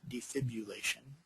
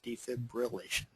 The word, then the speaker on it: defibrillation: is spelled defibrillation there is no u in there not defibulation it's defibrillation um and defibrillation is